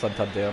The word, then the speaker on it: Santander: Der heißt Santander. Muss man Bräuti mal gucken. Der wird nicht so ausgesprochen.